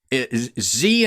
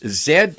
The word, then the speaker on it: Z: domain Isco doz or how do you say it in America Z in in the states Zed in Canada okay well I z